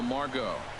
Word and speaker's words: Margot: And that'll bring up Manuel Margot. He's 2 I for like his 3 name, thus far. Margot, but the T is silent.